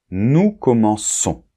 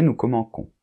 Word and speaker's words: commençons: commence normal nous commençons et là pour que la prononciation soit correcte nous devons absolument insérer une CDI donc c'est pas un C c'est un C CDI pour que ça fasse nous commençons ok sinon ce serait nous comenons après vous com et